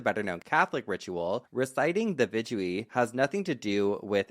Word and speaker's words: Vidui: And then in Judaism, there's Vidui, I believe is how you pronounce it.